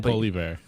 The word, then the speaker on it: Poilievre: I'm going to pronounce that wrong again. Poilievre.